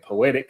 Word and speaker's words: Peauxetic: And you can also follow me on Instagram at Poetic, and that's Peauxetic.